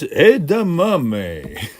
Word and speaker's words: edamame: It's edamame.